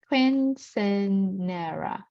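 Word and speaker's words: Quinceañera: Quinceanera, right? Quinceanera. We pronounce like that.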